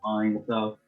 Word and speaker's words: T.Einsoft: Einsoft, not Heinz, not Ein, like Einsoft.